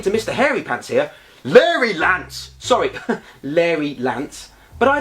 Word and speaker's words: Larry Lance: "Oh," said Mia, "that's very kind of you, noble knight Hairy Pants. It's pronounced Larry Lance."